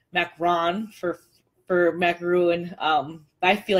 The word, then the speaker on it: macaron: a French macaroon and I I pronounce macaron like macaroon like like most people do from where I'm from um and she scolded me and she said you should say macron because that's how you're supposed to say it but